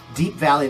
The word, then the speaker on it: Deap Vally: But that is the band Deap Vally. It's spelled DeapVally.